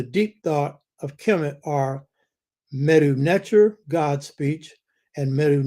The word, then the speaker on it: medu: Now, I said, in the first place, the etymology of the word medu, pronounced M-E-D-E-W, medu, speech, means, and this is the key point, staff or cane, C-A-N-E, of authority.